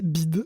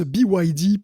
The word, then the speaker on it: BYD: nerfs en m'entendant prononcer BID, le constructeur chinois de voitures. En fait, ça se prononce BYD pour Build Your Dream.